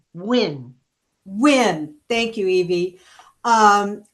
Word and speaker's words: Nguyen: Nguyen? I don't know. It's House District Nguyen. 33. It's Win.